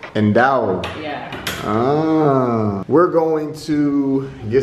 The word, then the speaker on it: dhow: How do you pronounce that? That's dhow. And dhow.